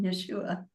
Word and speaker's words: Yeshua: and I was speaking to Yeshua and that is how he told me to pronounce his name. So I call him Yeshua and I said I don't understand.